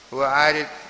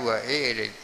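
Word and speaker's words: وَأَرِدِ: Wa arid, mestinya bacanya wa irid, ya.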